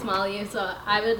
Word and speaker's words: Malinalli: to pronounce her to be like Miley up who's that then I was like it's mallya so I would like